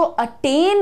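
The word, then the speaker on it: attain: पर ध्यान दो और उच्चारण देखो क्या रहेगा अटें अटें ये वाला जो तुम्हारा वर्ड है इसमें ए नहीं ए लगता है वो भी लाइट अटेंड आई अटेंड उदिशा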